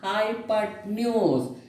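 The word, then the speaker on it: hypotenuse: अभी ये ई को आपने प्रोनाउंसिएशन नहीं करने का और ये ओ को ए करके प्रोनाउंसिएशन करने का, हाइपोटेन्यूज.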